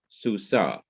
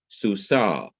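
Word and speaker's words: סוסה: I don't simply say Susa. I say Susa, Susa, because the dot is in there and it's bringing out the full meaning, the full sound of the consonant.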